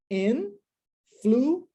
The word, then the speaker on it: influenced: Quando nós colocamos o D, eu não posso criar uma nova sílaba. Então fica influenced. Ó, só tem a única diferença é que tem esse D no final.